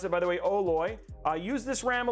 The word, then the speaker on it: OLOy: great mid-level board 184.99 right now on newegg oh loy and that's how you pronounce it by the way oloy i use this ram a little bit uh